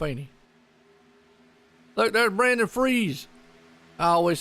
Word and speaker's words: Fries: Look, there's Brandon Freeze. I always said his last name is spelled Fries, but he goes by Freeze.